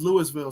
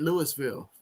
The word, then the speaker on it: Louisville: of course, 80s had his own barn burner that he was watching over there watching Syracuse versus Louisville.